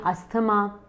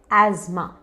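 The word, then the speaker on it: asthma: अब कुछ लोग उसे कहते हैं अस्थमा, एस्थमा। Actually correct pronunciation, correct उच्चारण है एज़मा।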